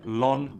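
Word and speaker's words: ln: সেক্ষেত্রে উচ্চারণ করা হয় লন এক্স।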